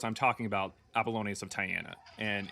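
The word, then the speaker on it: Tyana: of Tyiana.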